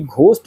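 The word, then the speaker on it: ghost: से शुरू होता है, जबकि घोस्ट में जी का उच्चारण ग होता है और यह पैटर्न बाकियों से बिल्कुल क्या है, अलग है।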